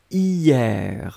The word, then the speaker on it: hier: On l'écrit avec un H, mais bien sûr, on ne le prononce pas. Donc la prononciation, c'est vraiment hier, hein.